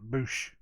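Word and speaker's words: בוש: word confounded is boosh it's spelled different than it says but you pronounce it boosh that's good stuff um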